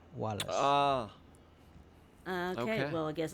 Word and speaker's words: Valles: Also, V's are pronounced as W's if you're saying it in Latin, so it would be Wallace.